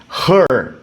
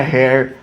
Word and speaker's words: her: Sempre her, ok? Her. Não é hair, não é here.